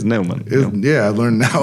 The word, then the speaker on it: Nauman: And I never heard of him, so I was like, it must be Newman. Newman, yeah. No. So how it is Neumann.